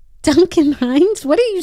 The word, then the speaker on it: Duncan Hines: make a cake like Duncan Hines like what's so good so complicated Duncan Hines what'd you just say Duncan Hans what's that excuse me Duncan Hines what are you saying